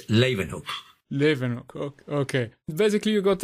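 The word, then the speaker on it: Leeuwenhoek: the power of the loganok microscope i hope i pronounced this name right no you didn't pronounce it right it's lavenhope living okay basically you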